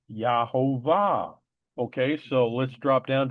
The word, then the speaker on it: Yehovah: Yahovah. Okay. Here again the word give they have a U. It should be a V. So this is without any doubt pronounced Yahovah.